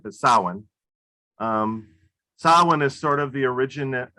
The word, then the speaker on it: Samhain: me to realize that that correct pronunciation is sauwen and i've been pronouncing that all day long trying to get that right but samhain um sawhan is sort of the